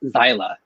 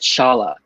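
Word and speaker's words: Xiala: i read the book i pronounced her name her name as xyla so but then i looked up um like how to say her name like um rebecca how rebecca said in her interview she said shala um okay okay was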